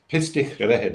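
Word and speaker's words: Pistyll: of my favorite places, a place called Pistol Rider in Wales, which I've pronounced wrong. Sorry to any Welsh listeners. But we got we got we got to spell it then. So because I I'm I'm darn curious already. It's pista in Welsh.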